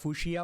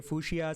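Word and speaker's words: Fuchsia: google is building they they also pronounce it at fushia os so somebody say fushia somebody say fukashia so that's a the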